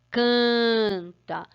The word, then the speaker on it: canta: dessa lâmina é canta canta canta canta geralmente o n depois de uma vogal ele não representa só na verdade ele tá na lizando a vogal que ele tá falando que a vogal tem